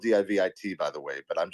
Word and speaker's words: DIVIT: Let's talk about DIVIT.